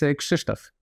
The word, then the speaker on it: Krzysztof: It's Krzysztof.